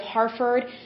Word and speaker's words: Harford: It is located in the county of Harford, however you pronounce that. It's Harford.